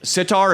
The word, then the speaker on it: sitar: spell that Sitar is S-I-T-A-R, but just sitar, copyright-free music.